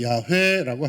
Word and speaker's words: 야훼: 오늘날에는 더 정확한 발음으로 야훼라고 합니다.